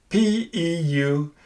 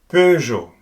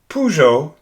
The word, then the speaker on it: Peugeot: This is quite difficult for native English speakers because they tend to say Peugeot instead of Peugeot. That's because the sound, that's the EU here, does not have an equivalent in English.